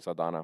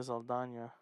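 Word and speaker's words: Zoe Saldaña: Well, her name is spelled with a nya. Yeah, she has an accent on top of her name. Yeah, but she doesn't acknowledge it.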